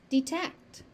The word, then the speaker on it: detect: Sometimes you will hear it pronounced as detect because the final T is dropped. But it's it's not wrong. It's just different. And if you choose to pronounce it with the final T, that's that's also correct. They're interchangeable.